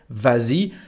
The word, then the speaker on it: vas-y: s it's like that so we say vazi and we write VA with a final s even if the conjugation